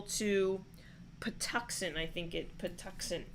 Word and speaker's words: Patuxent: patuxent i think it patuxent patuxent i think it's pronounced all right we have kenny is predicting a road victory for huntington huntingtown by a score of 34 to 13.